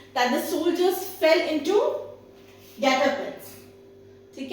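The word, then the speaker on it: guet-apens: Coming to the year 2012, the word is Getapans. Getapans. And how will you pronounce it?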